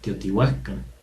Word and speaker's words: Teotihuacán: ejemplos de ellos recuerden o siempre entonces la pronunciación correcta sería atizapán mazapán mazatlán teotihuacán e incluso con algunos saltillo si acentos que